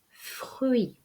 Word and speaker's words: fruit: sonne pas le portrait le fruit attention le dé finale nous ne sommes pas